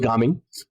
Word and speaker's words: Gaming: It's actually pronounced Gaming.